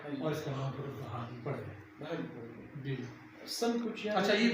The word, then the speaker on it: بحالی: اس طریقے سے یہ بحری جو ہے اصل میں یہ بحالی ہے، BAHALI بحالی، بحالی مانے بحال ہونا، یہ بحری نہیں ہے. تو تلفظ اس کا یوں ہے یعنی بحالی لفظ ہے BAHALI.